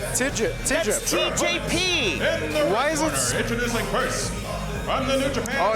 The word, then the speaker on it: TJP: yeah it says digital tjp why the new japanese oh is you just pronounce each letter oh come on you've